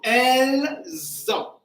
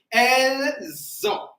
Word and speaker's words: elles ont: So only the sound here comes from the ending S of L. So elles ont. All right, so because of N, that's why the S is not clear. That's why it's a elles ont.